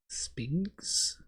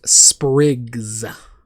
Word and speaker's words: sprigs: Spigs? Spigs. My accent, that is, most people pronounce those sprigs, but I pronounce them spigs.